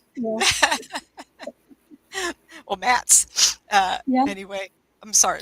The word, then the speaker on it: Matz: I love it uh-huh people ask me how to pronounce my last name m-a-t-z I said you ever heard of a floor mat now think of plural that's it well Matt's uh yeah anyway I'm